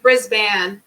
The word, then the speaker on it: Brisbane: close brisbane but pronounce bane part is pronounced ban okay brisbane yeah so like the